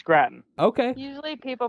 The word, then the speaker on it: Gratton: is that how you say it yes it's gratin okay usually people pronounce it like potato yeah usually we get grafton gratin all kinds of uh for the great